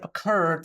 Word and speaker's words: occurred: occurred by the way occurred spells uh or is spelled with double r here because the stress is on the second syllable I am planning to